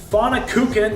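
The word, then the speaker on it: Pfannkuchen: and the eggs of course I have this fauna cooking yes that is the proper pronunciation I had to practice that one a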